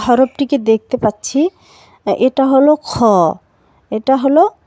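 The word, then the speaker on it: خ: এবারে আমরা যে হরফটিকে দেখতে পাচ্ছি এটা হলো খ, এটা হলো খ। খ এর উচ্চারণটা হবে হলকের শেষ ভাগ হতে।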